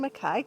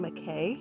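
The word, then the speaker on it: MacKaye: hi well here we are the benton makai trail you know for years i pronounced it benton mckay because that's how it's spelled and someone corrected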